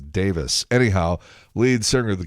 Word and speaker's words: Davies: I think that even though it's spelled Davies, the British pronunciation is Davis.